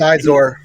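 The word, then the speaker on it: Xizor: I don't know how to say his name, like Prince Zhao. Oh, Prince Izor. Prince Izor.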